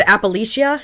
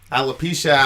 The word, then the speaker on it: alopecia: One is, so she has, you said Appalachia? Is that how you say it? Yeah. Alopecia, Appalachia.